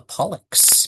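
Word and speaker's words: pollex: It is called the pollock.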